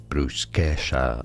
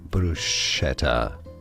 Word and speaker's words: bruschetta: Brusesha. Bruschetta. Bruschetta. No. In the US it is said as brusetera. Brusetera. In English. In the UK bruseta. In Italian.